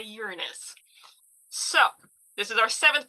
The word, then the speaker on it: Uranus: Okay, now let's get to Uranus.